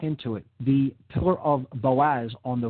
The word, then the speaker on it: Boaz: and the right hand pillar the pillar of boaz marked there with a b i'm hearing